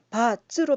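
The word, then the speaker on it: 八字: 이거는 국제적으로도 예를 들면 한국에서는 팔자라고 부르지만 영어로는 바즈, 즉 팔자의 중국어 발음 바즈로 발음하고 있습니다.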